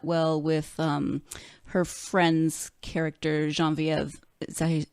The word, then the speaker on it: Genevieve: Yeah, and I think you captured that well with her friend's character, Genevieve. Is that how you pronounce it?